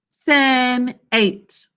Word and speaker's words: Senate: A says its name because of a silent final E.